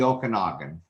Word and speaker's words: Okanagan: the uh okanagan uh the region is the okanagan uh in in british columbia here yeah um